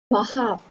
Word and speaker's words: perhaps: Perhaps. Okay, remember we have the letter S at the end of the word. So you must pronounce it.